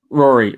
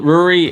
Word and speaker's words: Rory: or Rory Rory well ruri is the Irish pronunciation of it but I do I nearly changed it as a teenager from to the Irish spelling but I kept it as the the English spelling first so it's Rory okay but uh having